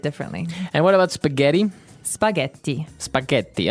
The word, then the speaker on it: spaghetti: Spaghetti. Spaghetti. Oh, you pronounce the double T as well.